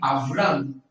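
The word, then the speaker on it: אַבְרָם: A pronúncia era Avram. Avram, tá?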